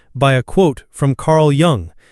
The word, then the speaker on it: Jung: This particular episode was truly inspired by a quote from Carl Young. How do you pronounce it correctly? Carl Young. I think Jung is right.